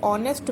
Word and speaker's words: honest: जैसे कि ऑनेस्ट में यहाँ पर जो इनिशियल लेटर है वो एच है लेकिन साउंड हमें ओ की आ रही है ऑनेस्ट because the first letter is silent.